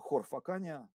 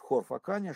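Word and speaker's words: Хорфаккан: Действительно, те, кто давно не были в Хорфакане, пожалуйста, пишите и произносите хор, а не кх. Кх – это англичане так говорят, а правильно по-арабски хор.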